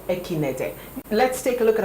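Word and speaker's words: Ekeinde: Okay, so her name is Omotola Jalade Ekinete. I think that's how the Nigerians pronounce it. Omotola Jalade Ekinete.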